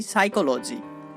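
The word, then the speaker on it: psyche: তেমনি করে আমরা বলতে পারি সাইকোলজি। সাইকোলজি। দেখুন এখানে আমরা পি এবং এস কে পাচ্ছি, এখানেও তার উচ্চারণ হচ্ছে দন্ত স।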